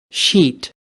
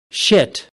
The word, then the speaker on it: sheet: Shit. Shit. Shit. Muchas veces podríamos cometer el error de pronunciar mal. Entonces nos estarían entendiendo otra cosa. Por ejemplo, este segundo ejemplo significa una palabra ofensiva.